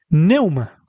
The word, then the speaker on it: pneuma: Biblia aparece una palabra en griego que es neuma y se escribe con pneuma.